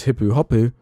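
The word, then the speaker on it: ヒップホップ: I eventually put it into Google Translate which returned hippuhapu. Once I pronounced it as hippuh hapu in an overexaggerated way, the whole bar erupted in oh and nods of understanding.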